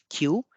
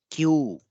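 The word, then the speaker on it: きゅう: here you can see there is a blended sound here key plus u is q and there is one additional o so this is Q so it's a long sound at the end Q and at times it is also called coup so we will see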